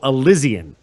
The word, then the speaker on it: Elysian: mast and II know he wanted it like Elizabeth so elysian so everybody game says